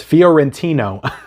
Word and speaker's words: Fiorentino: name is Linda Foo I'm not even going to be able to pronounce this guys fiorentino I think is how you pronounce it so that's the